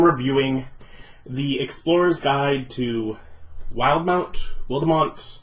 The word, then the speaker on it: Wildemount: the Explorer's Guide to Wildemount. I think it's supposed to be Wildemount, but with that E in there, I want to pronounce it Wildemount.